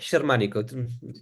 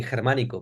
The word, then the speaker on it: Xermanico: com box that simple and it's called shermanic anyway I don't get offended when people call me with a Mison mispronounced name or they choose to to call me hermano because hermano is actually is also my name so yeah it's okay